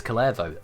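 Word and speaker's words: Kullervo: Why did I pronounce it so incorrectly? It's Kullevo. Ugh.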